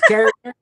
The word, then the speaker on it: Karchner: It's Carrick. God bless. Oh, so I've been saying Carsner for years, but that's not it.